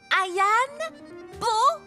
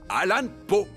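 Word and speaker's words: Allan Poe: Les extraordinaires histoires de Edgar Ayan Po. Edgar Alan Po, ça se prononce Alan Po.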